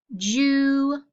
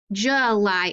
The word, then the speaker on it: July: No, we say protect, and July is usually how we pronounce it. So the O and the U can make the schwa sound if they are open and unaccented, okay?